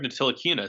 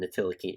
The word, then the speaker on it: Ntilikina: Well, they have Frank Ntilikina, so they should be a title contender. I still want to know why you're pronouncing the T in Ntilikina.